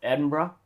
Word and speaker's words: Edinburgh: So, Edinburgh is what we're going with. And because we've been told by Scottish people that's how to say it.